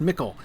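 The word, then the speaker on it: Michel Delving: But I was saying that Mickle Delving in the Shire should be pronounced Mickle.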